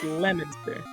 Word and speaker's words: Leominster: Yeah, Massachusetts Leominster. is a wild time. Which is pronounced Lemonster.